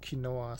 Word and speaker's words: quinoa: I think you can buy pillows filled with kinoa stuff. Uh, quinoa. Is that the actual pronunciation? Pretty sure the the German advertisers call it Kinoa.